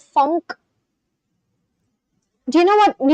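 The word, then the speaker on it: phonk: It's called funk. You guys know it's it's spelled out as P H O N K.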